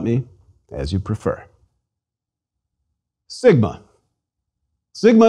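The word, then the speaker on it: σίγμα: Sigma is equivalent to S and pronounced as the S in sing.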